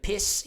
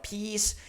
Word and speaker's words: peace: If you say piss instead of peace, if you say bitch instead of beach, a lot of things can happen during conversation.